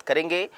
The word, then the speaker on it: coup: कू कहा जाता है, कू स्पेलिंग में तो COUP लिखा जाता है लेकिन होता ये कू है, ठीक है, प्रोनाउंसिएट इसको कू से किया जाता है।